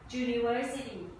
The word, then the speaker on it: University: มา ให้ ดู มี 2 คำ นะ คะ University ออก เสียง จ จาน ย ยะ ค่ะ เสียง